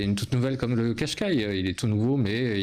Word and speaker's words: Qashqai: vous connaissez le mot nettement françois survenant le qashqai désolé qashqai qui arbore la nouvelle identité de nissan qui